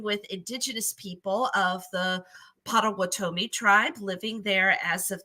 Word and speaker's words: Potawatomi: I think it's actually pronounced Potawatomi. Potawatomi.